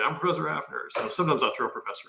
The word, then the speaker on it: Hafner: That silent L joke. We've never. That was a riff. I'm going to keep that one. That was a good one. You set me up with that. I'm not Halfner.